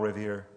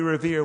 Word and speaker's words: Revere: midnight ride of Paul Revere who wrote along with Sam Prescott and William Dawes but revered got the nod because he rhymes with year so one if by land two if by sea was given to mr.